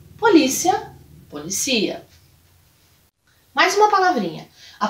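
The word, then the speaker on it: policía: E a pronúncia também, porque mudamos o local da sílaba tônica. Então, polícia, em português, policia em espanhol. Polícia, policia.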